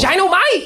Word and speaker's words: Ginomite: Ginomite. You have to say it like that, Dynamite.